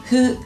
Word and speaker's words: fu: Hu se escribe con F y el sonido es una mezcla entre hu y fu.